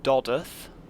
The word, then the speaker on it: Dodworth: next stop is dodworth which is actually pronounced doth it's a silent W and this is one